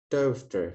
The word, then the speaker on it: daughter: Daughter, G-nya nggak kita baca karena di situ kita dapati ada silent G bertemu H ya.